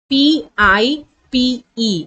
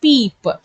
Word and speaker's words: pipe: p i p pip so the phonic sound of I is e so you could not pronounce this word as peep you have to say it as pipe as the letter E is at at the end of the word so you have to